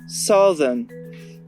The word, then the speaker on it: southern: On observe super bien cette règle avec un mot comme south, où le TH va se prononcer th parce qu'en fin de mot, mais dont le TH va se prononcer the dans southern, qui partagent pourtant la même racine.